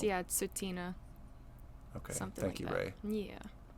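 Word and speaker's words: Tsuut'ina: I believe it's yeah sutina okay thank you Ray yeah you're so good at this uh OHA so the T isn't pronounced the at the beginning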